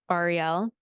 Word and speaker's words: Ariel: I was focused so hard on the long E, but then I was messing up the A still.